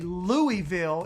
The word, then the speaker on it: Louisville: they just say chattanooga or they don't say louisville it's louisville like louisville kentucky louisville that's how